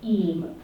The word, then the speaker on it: EAM: Entrepreneur, Engagement Manager for the Southwest, which is much better if you just pronounce it EAM. And the great thing about EAM is it rhymes with team, and there are a team of EAMs across the country, one for each region.